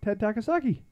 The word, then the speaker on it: Ted Takasaki: Walleye, Ted Takasaki.